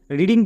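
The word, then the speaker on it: wrong: আমরা যদি silent letter না জানি রিডিং কিন্তু ভুল হবেই।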